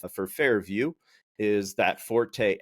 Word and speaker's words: FairVu: Uh it is a basically so the company Fair View uh is spelled fair vu instead of the traditional vie w.